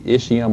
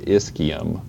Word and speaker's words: ischium: then this lower posterior portion is called the ischium or the ischium it's i-s-c-h-i-u-m-c-h usually in latin is pronounced with a k sound all right so